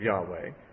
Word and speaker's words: Yahweh: They usually pronounce it Yahweh, but it may not even be the correct pronunciation.